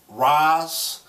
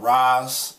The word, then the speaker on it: RAS: shows um it's pronounced Raz it's sort of like a tribute to NAS so I pronounce it like Ras and of course it's